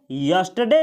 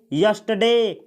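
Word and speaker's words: yesterday: बीता हुआ कॉल जैसे इस शब्द को आप पढ़ेंगे यस्टरडे यस्टरडे इसमें आर का उच्चारण आप नहीं करेंगे अगला सेंटेंस है अगर मुझको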